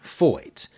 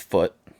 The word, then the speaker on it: Feucht: this man this sean foyt and yes that is how you pronounce it uh it's it's a german name pretty sure it looks german to me but it's not pronounced